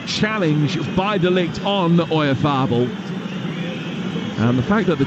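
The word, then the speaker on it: Oyarzabal: Oyarzábal. That way, yeah. Oyarzábal.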